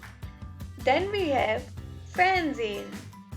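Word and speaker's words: fernsehen: means to read l-e-s-e-n lasen then we have fanzine fanzine f-e-r-n-s-a-h-e-n transient then we have spielin s p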